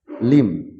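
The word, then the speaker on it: limb: Be silent word, এখানে আমরা দেখতে পাচ্ছি বি সাইলেন্ট ওয়ার্ড কোন কোন শব্দে বি লেটারটা উচ্চারিত হবে না, সাইলেন্ট থেকে যাবে। কম মানে চিরুনি, ল্যাম মানে ভেড়া, টম মানে সমাধি, থাম মানে বৃদ্ধাঙ্গুল, বোম মানে বোমা, লিম মানে অঙ্গ প্রত্যঙ্গ, ডেট মানে দেনা, ডাউট মানে সন্দেহ।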